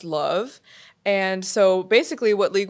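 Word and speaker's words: LOVB: it's spelled l ovb but it's spel it's pronounced love and so basically what league one volleyball is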